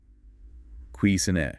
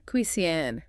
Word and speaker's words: cuisine: It's a French word, so the stress is on the second syllable. Cuisine. Cuisine.